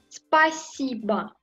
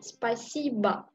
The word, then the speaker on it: Спасибо: Спасибо. Спасибо. Спасибо. S-P-A-S-I-B-O. Спасибо. Et encore, je prononce A à la fin. Спасибо.